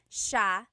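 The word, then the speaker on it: siya: It's sha sha. The s i y combination makes the sh sound in tagalog.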